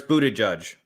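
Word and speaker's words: Buttigieg: what what button yeah is that how you say his name or it's Buddha judge can I say yeah just say just think Buddha judge can I say but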